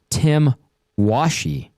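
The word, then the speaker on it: Tim Washe: Uh, according to the NHL's pronunciation guide for the 25 26 season, it is Tim Washi.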